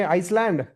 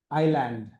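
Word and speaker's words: island: क्या पढ़ेंगे? आइसलैंड, ईजलैंड। क्या पढ़ेंगे? आइलैंड। Okay, आइलैंड। अंडरस्टूड?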